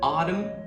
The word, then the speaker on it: autumn: There are also silent letters at the end of words like the N in autumn and column.